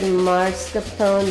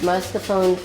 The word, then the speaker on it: mascarpone: about um pronunciation because I've always heard marscapone last mascarpone she's pronounced the way you have and then I heard you earlier